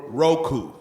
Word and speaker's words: Roku: How you pronounce it? Is it Roku or Roku? Roku.